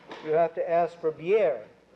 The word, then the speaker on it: bière: If you want beer, you have to ask for bière. You have to pronounce the I and the E both.